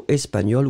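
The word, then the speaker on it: espagnole: So espagnol with a final E. You pronounce them the same way, still you should write it properly.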